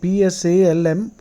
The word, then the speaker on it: psalm: go to Google type psalm 109 the p is silent Psalm it's a prayer